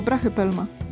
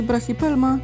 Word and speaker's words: Brachypelma: Możemy to wymawiać po prostu jako brachypelma. Co prawda Y można wymawiać tak jako I, więc jeśli usłyszycie kiedyś brachypelma, to też nie jest to błędem.